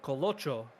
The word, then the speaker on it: Colo: And it the name might sound a little similar, but Colo, not Coco, Coloo.